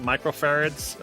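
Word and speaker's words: µF: not really sure but they pronounce it microfarads um i say uf all the time because that's what it looks like it looks like a u and an f but that's not really a u it's kind of this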